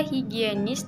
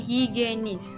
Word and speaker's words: higienis: ada kata higienis Hai Kebanyakan orang mengucapkan kata higienis dengan higenis Hai arti kata higienis